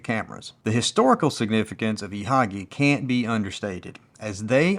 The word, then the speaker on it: Ihagee: by the acronym IHG which when pronounced in German is ihagi and that's the name you'll see associated with most Exacta cameras the historical significance of ihagi can't be understated as